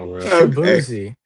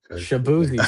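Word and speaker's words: Shaboozey: Spell it. S H A B O O Z Y. Shaboozi. Shabuzzi.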